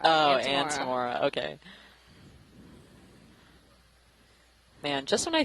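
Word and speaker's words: Antimora: Antemora, not Amora. Oh, Antemora.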